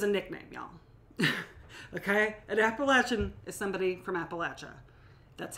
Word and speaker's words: Appalachian: An Appalachian is somebody from Appalachia.